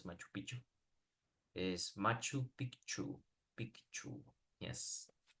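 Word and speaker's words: Machu Picchu: piku yeah Peru exactly some people mispronounce it Machu no it's Machu piku is Machu piku piku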